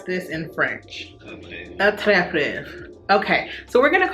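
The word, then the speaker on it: Attrape-Rêves: Okay, how to pronounce this in French? Attrape Reves.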